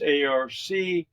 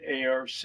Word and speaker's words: ARC: And that happens, acronym for that is ARC, which is pronounced pretty much the same way ARK is pronounced.